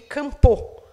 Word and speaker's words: Kampo: Kambo is in Portuguese. In Pano, it would be Kampo. I'm using the Portuguese version here.